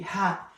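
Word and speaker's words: ه: Ha, ha, which is the H in English.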